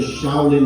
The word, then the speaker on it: Shaolin: Little is Shao in Chinese, her royal highness sneered, and forest is pronounced Lin. Ask for the Shaolin Monastery.